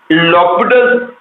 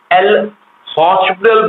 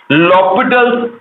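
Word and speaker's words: L'Hôpital: लॉपिटल्स rule, जिसको कि बहुत लोग एल हॉस्पिटल बोलते हैं, जो कि रॉन्ग प्रोनाउंसिएशन है। करेक्ट प्रोनाउंसिएशन इज, उसमें एच साइलेंट होता है। तो करेक्ट प्रोनाउंसिएशन इज लॉपिटल्स रूल, और उसके हिसाब से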